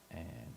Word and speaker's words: eh: Do that and Canadianisms. Uh all right. So, just some of the Canadianisms or Canadian sayings or words. Um, a is a Canadianism is spelled eh.